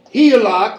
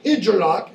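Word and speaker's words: Hygelac: no wisdom at all his very name heak or hilock as some people pronounce it can mean fought done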